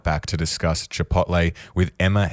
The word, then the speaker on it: Chipotle: so many different ways I go with Chipotle nice definitely not Chipotle though not Chipotle not Chipotle okay good good to know